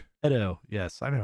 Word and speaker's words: Edo: Edo. Yes, I know how to pronounce things.